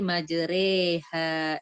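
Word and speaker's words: مجراها: Jadi tulisan majroha menjadi majreha. Jadi dibaca antara a dengan i.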